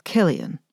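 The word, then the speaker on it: Cillian: And it's Killian, with a hard C.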